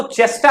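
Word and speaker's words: ChaSTE: पहला जो है वो चेस्टा है, चेस्टी इसको प्रोनाउंस करेंगे, ठीक है।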